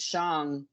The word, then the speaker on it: Shang: in my head but everyone in the movie says shang and then apparently his